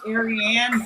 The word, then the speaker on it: Arianne: you know, cuz uh people call me Aryan way too often and I'm like, "No." Oh, no. It's actually pronounced Arianne, but that's funny you said.